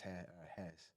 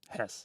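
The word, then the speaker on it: Hesse: yeah yeah I think it's pronounced Hess Hess yeah um yeah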